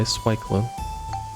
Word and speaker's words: Swyclone: That's how it's pronounced, by the way, Swyclone.